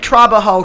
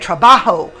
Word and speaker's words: trabajo: was a banger and i said trabajo she said trabajo so i'm learning she said you got to roll your r's i said no i